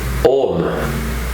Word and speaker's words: Om: very very first one om o-m or a-u-m as it is often pronounced so let's clear the